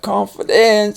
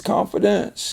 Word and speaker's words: confidence: what it is but it's not confidence it's confidence confidence confidence and that's because this syllable is accented so these are unaccented and they lose their sharp sound there influence you want